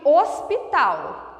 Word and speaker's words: hospital: É o mesmo caso de hospital. Hospital, nós não pronunciamos o H.